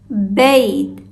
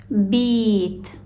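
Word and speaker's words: بيت: That's why it acts as a regular consonant instead of a long vowel. So it's bait and not beat.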